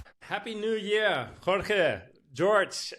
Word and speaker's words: Jorge: just start by explaining why my name is pronounced George because I'm originally from Portugal where Yan is